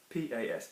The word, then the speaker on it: pas: use the word pas, P-A-S, pas. We're not pronouncing the S because there's not an E after it, okay?